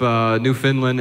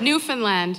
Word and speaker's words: Newfoundland: We've been to every province except Newfoundland and PEI. And What? Newfoundland. Don't say it like that. How do I say it? Newfoundland.